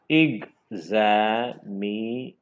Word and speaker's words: examination: syllables in it, and the main stress should be given to the syllable, the four syllable name. See? Examination.